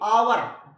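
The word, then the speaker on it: hour: ये भी इंपॉर्टेंट है आवर आ से शुरू होता है हावर नहीं है ये आवर क्या बोला जाता है आवर आ तो फिर आगे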